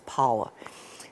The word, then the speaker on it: Paua: Pa'o, but it's pronounced, it's not Pa'o, it's Paua, Sterling.